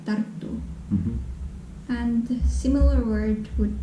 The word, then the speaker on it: Tartu: Tartu. Yeah, Tartu. Mm. So I received a comment who said that Tartu, this Estonian second biggest city, sounds like it has two T's, so double T. Like Tartu Tartu.